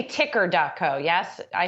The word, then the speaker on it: TKer: been pronouncing it as ticker it started it started as tker but now it's ticker okay ticker editor of